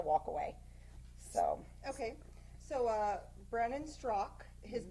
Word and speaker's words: Straka: So, Okay, so Brandon Strock, his name is actually spelled Straka, but it's not pronounced Straka, which is how I was pronouncing it for months. It's just Strock.